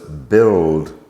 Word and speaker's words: build: Notice also that the words build, gild, and biscuit have a U in them that is, of course, silent.